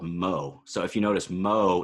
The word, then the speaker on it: mho: of resistance which is conductance I believe that's pronounced Seamans um which is called Mo so if you notice MO is just the